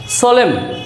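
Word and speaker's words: solemn: that means অগ্রাহ্য করা সোলেম এম এন পাশাপাশি আছে কিন্তু এন এর উচ্চারণ হয়নি সলেম দ্যাট মিন্স একাগ্রতা কলাম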